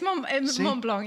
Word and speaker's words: Mont Blanc: Yeah, it's Mont Blanc. Yeah, no. What we made fun of you of because you said, "Oh, my favourite place is Mont Blanc," and I said, "Well, you can't just say that.